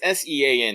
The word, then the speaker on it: Sean: um if it's as if it's s-e-a-n it's usually sean yes yeah that's well i mean that's how is how is this spelled but yeah um i'm used to reading it okay okay yes it is shawn all right good cool